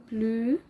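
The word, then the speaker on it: bleu: او دي هتودينا كده لقاعده نطق مهمه وهي ان حرف الاو والاو بيتنطقوا او كلو بلو فمهمه جدا القاعده دي نفضل فاكرينها ان حرف الاو والاو بيتنطق او بلو يبقى اللون الازرق بلو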